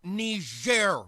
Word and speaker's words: Niger: Oh, don't tell me people are still mad about that nigger thing. It's pronounced Niger, Mr. President, and it's a country in Africa.